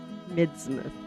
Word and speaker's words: Midsmouth: Midsmouth is how you say it.